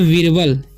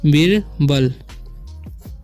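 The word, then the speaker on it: Birbal: यहाँ पे लिखा है बीरबल, इसे पढ़ते हैं हम बीरबल, बीरबाल नहीं पढ़ना है।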